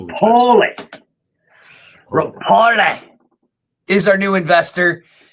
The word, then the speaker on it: Repole: It's Rapoli. Rapoli.